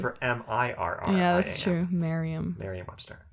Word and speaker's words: Merriam: Oh, I've always said Merriam. Yeah, Webster. That would be for M-I-R-R-I-A-M. Yeah, that's true. Merriam. Merriam-Webster. It rhymes with, if you like it so much, why don't you marry it?